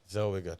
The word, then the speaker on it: Zellweger: Zellweger. I pronounced it like Schwarzenegger. Zellweger.